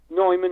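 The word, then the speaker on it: Neumann: AKG chore bar dynamic nman or Newman however you want to pronounce it um there were main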